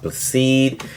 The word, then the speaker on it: Blessed: Yes, it is spelled blessed, but it's pronounced Blacede.